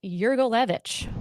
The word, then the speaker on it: Yurgalevicz: Yurgich, welcome to Pinhive Philly.